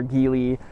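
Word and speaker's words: Geely: built in China by by G or Gil depending who you ask how you pronounce it similar platform similar battery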